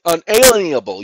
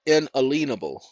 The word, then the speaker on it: inalienable: unalienable let's use inalienable I know you're used to it being pronounced uh in a see uh you know unalienable you're used to being pronounced eleniable but it's inalienable and if you break